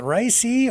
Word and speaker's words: Raisi: incident with Iranian President Raisi's, is it Raisi or Raisa? It's spelled R-A-I-S-I, yeah, Raisi.